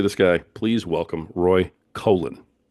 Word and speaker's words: Coughlin: Please welcome Roy Coughlin. Did I say it right? Thank you. Colin? You did indeed. Yeah, Coughlin.